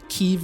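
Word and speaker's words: Kyiv: is the Russian pronunciation Kiev is the Ukrainian pronunciation and in 1881 Ukraine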